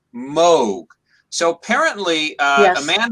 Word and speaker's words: Moog: rydial asks something about uh it looks like moog but i happen to know it's pronounced moog so apparently uh a man named moog has